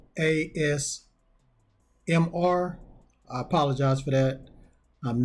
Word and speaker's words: ASMR: I mispronounced the name of these type of videos at the beginning. I meant to say ASMR.